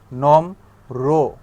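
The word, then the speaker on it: নম্র: একইভাবে র ফলা কি করতে হয়, যে ভদ রো, ঠিক আছে, অর্থাৎ শেষের যে বর্ণটা থাকে তারপরে র আনতে হয়, ভদ রো, নম রো। র ফলাটার উচ্চারণ কিরকম, রো এর মতো।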